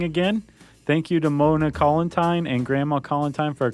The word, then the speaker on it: Collentine: No, I think she corrected us and said it was like Valentine. Oh, right. So I think I'm saying it right. Man, Mona's going to be so mad at me. Collentine.